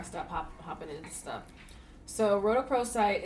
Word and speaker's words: rhodochrosite: But dacrosite? No, it's rhodochrosite.